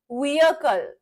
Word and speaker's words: vehicle: व्हीकल, व्हीकल was the correct pronunciation for this word. Vehicle, vehicle.